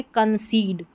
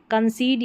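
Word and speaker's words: concede: तो यहां पर यह है कंसीड। कंसीड यहां पर इ का उच्चारण बड़ी ई के जैसे है।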